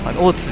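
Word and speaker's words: 大津: 池大津、大津って読むんですよこれ。大津じゃないですよ。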